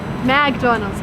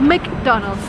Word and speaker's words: McDonald's: It's not McDonald's or McDonald's, it's McDonald's.